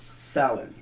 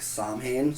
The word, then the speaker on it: Samhain: one today is about okay so it's properly pronounced salad a lot of people pronounce it or know it more as like Samhain Psalm 9 it's frequently mispronounced I was mispronouncing